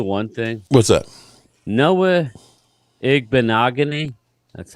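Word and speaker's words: Igbinoghene: Noah Igbenogany, that's how you say it.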